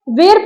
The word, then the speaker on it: were: यू, वी, दे के साथ आपको वर का यूज करना है। बहुत सारे बच्चे WER वर को वेर प्रोनाउंस करते हैं, ये वेर नहीं होता है, इसकी एग्जैक्ट प्रोनाउंसिएशन होती है वर।